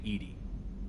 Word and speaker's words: EDI: are you named Edie? EDI is the phonetic pronunciation of EDI.